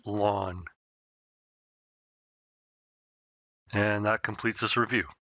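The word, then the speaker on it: ln: log base E and we pronounce it lawn and that completes this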